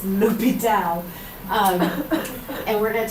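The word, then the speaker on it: L'Hôpital: when we talk about lital that's pronounced not La hospitals it's lital um and we're going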